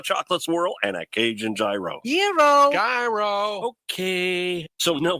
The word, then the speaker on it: gyro: in line at Papa Gyros I order the gyro Supreme suddenly the lady behind me chimes in it's pronounced Euro then the fellow behind her says it's a gyro I turn my back